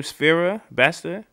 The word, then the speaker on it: Sfera Ebbasta: That's how you pronounce his name, Sfera Basta.